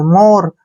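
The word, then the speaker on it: more: का उच्चारण र करेंगे ई का उच्चारण हम नहीं करेंगे मोर मोर क्या होता है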